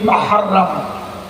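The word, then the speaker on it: محرم: আপনাদের মসজিদের খুতবায় দেখে নেবেন, এই মিম হে রে মিম, মাহরাম। মাহরাম আসল উচ্চারণ, মাহরাম মানে হলো সম্মানিত, মাহরাম মানে নিষিদ্ধ, মাহরাম মানে হচ্ছে পবিত্র।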